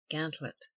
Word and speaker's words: gantlope: Gantlope or gauntlope, commonly pronounced gantlet.